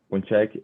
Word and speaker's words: Ponczek: Então, hoje nós estamos recebendo o professor Vladimir Punchek. Eu nunca sei como é que pronuncia, Vladimir, seu nome. Não, pronunciou certo, tá ótimo.